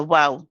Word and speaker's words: واو: This is a letter of the lips. So we're going to use both lips, the upper and the lower lips, use the sound of the letter waw.